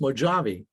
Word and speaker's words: Mojavie: She goes, Dad, if you took Mojave, just slap an I in front of the E, it would be pronounced Mojave.